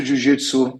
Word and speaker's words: Jiu-Jitsu: you spell it it's j-i-u-j-i-t-s-u a lot of English speakers they would use the Zid the last letter of the alphabet and not the J so it's Jiu Jitsu and it's a specific